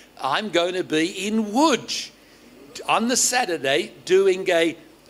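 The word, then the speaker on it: Łódź: them one Church in a place called wood everybody say wood you spell it l-o-d-z so polish is a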